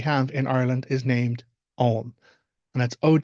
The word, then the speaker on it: Ogham: script that we have in Ireland is named om and that's OG g h a m om it's not aam and I can understand how people might mispronounce